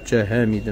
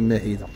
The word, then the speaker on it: هامدة: قريت شويه العربيه ج هامده ماشي ماهده جابك الله سمعتيها ماشي